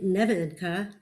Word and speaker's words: Nevenka: in the balkans uh we put the accent in croatia on the first syllable in bulgaria it's on the second syllable so we do it both ways um slavonsko colos uh